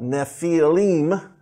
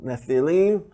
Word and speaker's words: Nephilim: Or plural, Nephilim is how it's pronounced. Nephil, Nephilim.